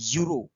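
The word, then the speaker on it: European: এর উচ্চারণটা যদি তুমি করো, এর উচ্চারণ হচ্ছে ইউরো, মানে ওয়াই ইউ দিয়ে শুরু হচ্ছে বাক্যটা।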